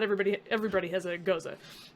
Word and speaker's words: Gose: I was like, and I said, "What the hell's a Gose?" And they're like, "It's pronounced Gose. It's a German beer.